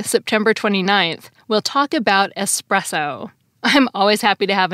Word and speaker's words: espresso: I think people might link the word express with espresso because espresso can be a fast way to get caffeine, which can make you feel faster. But espresso isn't related to the word express. It's related to the word pressed. It's short for the Italian caffè espresso, which the Oxford English Dictionary says literally translates to pressed coffee.